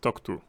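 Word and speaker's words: TOCTOU: to time of use it's totoe that's how you how you write it how you pronounce it uh time of check to time of use I'm going to just say talk to today so yeah so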